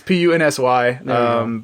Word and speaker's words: Punzy: I was thinking a hard Z like the first time you told me. When you first time you told me. It's Punsy.